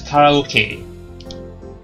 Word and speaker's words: karaoke: Or in Japanese and Asia, mostly, it's pronounced as karaoke.